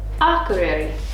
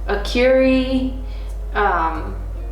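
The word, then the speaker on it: Akureyri: capital of the north a career our career a career I mean it's easy when you say it right but I've heard like a Curie I've heard a lot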